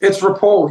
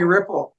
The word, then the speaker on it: Ripoll: Like most people can't say my last name good, but it's Ripoll. You've said it right. Most people call me Ripoll, and that's fine. You can make that mistake.